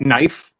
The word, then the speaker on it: knife: I mean, then and then you got words like like knife, you know, with the silent K.